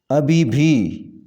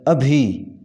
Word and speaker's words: ابھی: چشمی آئے گی انہوں۔ ابھی بھی، یہ غلط تلفظ ہے، اس کا صحیح تلفظ ہے ابھی، ابھی کے بعد بھی نہیں آتا، ابھی۔ السلام علیکم، صحیح